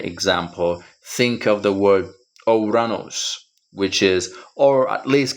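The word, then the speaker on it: Ουρανός: each of those, because we are able to pronounce this word using the unique sound of each of these letters. Ouranos. Omicron, Upsilon, Rho, Alpha, Nu, Omicron, Sigma, Ouranos.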